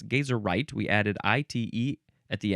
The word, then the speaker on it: geyserite: Okay, moving on to we now have uh I guess it would be geyserite or maybe gazerite or geyseright different versions but it's gazerite.